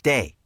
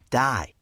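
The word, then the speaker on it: Dai: the professor sure and it's day excuse me you said die people who knew him on the west coast only pronounced it that way but his true friends from the East Coast pronounced it day I considered this for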